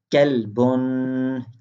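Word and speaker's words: كلبٌ: If we pronounce qalbun, qalbun used for heart, qalbun used for heart, and kelb, kelbun used for dog.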